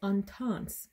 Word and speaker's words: Intense: So that's La Femme Prada Intense, or Intense, if you want to do the French pronunciation.